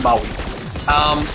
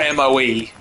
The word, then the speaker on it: Moe: I was going to Moe, which is spelled M-O-E, but you pronounce it Moe, just for the record. And if you say Mo, you get really upset.